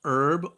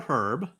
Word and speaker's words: herb: But um we don't we do pronounce the H.